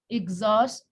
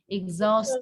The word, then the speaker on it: exhaust: exhaust. Nah, itu dibacanya I-nya I pendek ya. Exhaust ya.